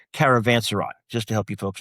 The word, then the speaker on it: Caravanserai: If you're reading the book, you're gonna have a way to pronounce that. It's Caravanserai, just to help you folks out.